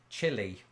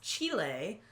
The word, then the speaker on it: Chile: I used Chile. to pronounce this chili. And I think most people in Britain do, but I've since evolved my pronunciation because of this one. Well, it's Chile because it's the place, Chile. But if you were to eat chili, that would be chili.